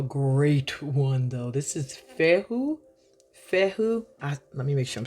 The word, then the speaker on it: Fehu: This is Fehu. Let me make sure I'm saying it right. Fehu. Okay? So this is Fehu.